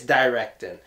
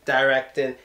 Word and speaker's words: directed: directing a movie no it's directed like erecting directing yes with this you get the teeth you do not use the Putin to you pronounce the T and now for the